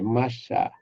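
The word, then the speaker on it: מָשַׁח: Esse H é mudo. Aqui é machá.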